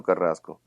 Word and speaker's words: Carrasco: but justice abbreviating but it was Jose Armando Carrasco and I I'm gonna I want to use